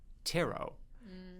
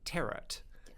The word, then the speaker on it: tarot: this is even better we are looking at tarot or as David pronounced it terot yes you I've noticed a few people pronounce